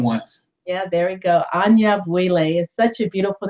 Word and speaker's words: Anyabwile: Anyabwile. There we go. Sometimes you Welcome. gotta do it more than once. I'm sorry? Sometimes you just gotta do it more than once. Yeah, there we go. Anyabwile is such a beautiful name.